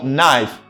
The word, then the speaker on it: knife: pleasure madam good so knife and this word letter K is silent Silas knife foreign good